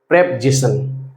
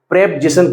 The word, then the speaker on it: preposition: जी बिल्कुल सही सुना, इसको प्रेपजिशन कहते हैं। करेक्ट प्रोनाउंसिएशन जो है इसका प्रेपजिशन। अधिकांश बच्चे इसको प्रीपोजिशन पढ़ते हैं जो कि गलत है। आप ध्यान रखें, इसका करेक्ट प्रोनाउंसिएशन करें प्रेपजिशन।